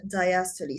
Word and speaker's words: diastole: احنا we pronounce this E. So systole and diastole.